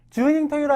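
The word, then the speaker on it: 十人十色: 여기에는 이제 안 나와 있는데요 토이로 그다음에 10 주닝 토이로 하게 되면 열사람 열사람 주닝 열사람의 토이로 쇠가리 되니까 얼마나 각양 각성합니다 그죠 주닝 토이로 이런 말이 있고요 그다음 토가 11이라고 할 때는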